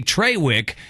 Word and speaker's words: Traywick: No, it is Trawick. You're right, and that is spelled Traywick.